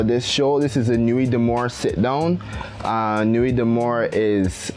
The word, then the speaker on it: Nuit D'Amore: Italian did I butchered that just know the pronunciation actually no he was pretty good it's a normally damn or nuit d'amour yes I thought it was not damaged I